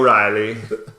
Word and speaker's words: Reilly: He had Vinnie Riley come in, yeah, or however you pronounce it. We've already determined O'Reilly, but without the O, no Riley.